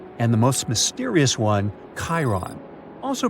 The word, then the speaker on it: Charon: And finally, while standing on Pluto, you would see its five moons: Styx, Nix, Kerberos, Hydra, and the most mysterious one, Charon, also pronounced Sharon.